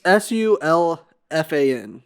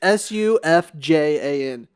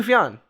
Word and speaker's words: Sufjan: It's Sulfan, right? Sulfan. What's his fucking name? Oh, there's a J in there. It's Sufjan.